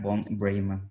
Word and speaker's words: von Breymann: Vamos a hacerle las preguntas a la arquitecta von Breyman. Perdón si lo estaría pronunciando mal, ¿sí es todo correcto?